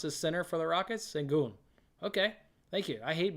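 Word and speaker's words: Şengün: Segun. Okay, thank you. I hate mispronouncing names, but I don't watch TV, so I don't really hear announcers say guys' names.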